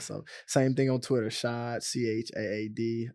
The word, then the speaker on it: Rachaad: So Instagram, Shad. It's Shad, but it's spelled Chad, CHAAD __1.